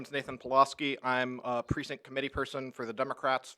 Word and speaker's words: Pulaski: mmm next we have Nathan Pulaski polo ski did I pronounce that correctly okay I wasn't sure